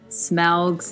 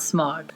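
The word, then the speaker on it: Smaug: I would like to point out that they've been saying Smal's name wrong. They've been saying it's smog. It is not Smog.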